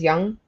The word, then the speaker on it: Young: So, when Josh Young, I think is how you say his last name. Yeah. Right. Is Young, not Jung. Yeah.